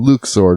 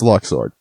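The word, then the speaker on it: Luxord: right by the way I just can't accept Luke's sword I'm sorry it's been too long Tetsuya you had your chance in Kingdom Hearts 2 to say his name but no it's Locke sword also did anyone else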